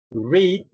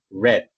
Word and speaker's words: read: Sin embargo, el pasado es igual al presente, solamente que se pronuncian diferente. En presente yo digo read y en pasado yo digo read.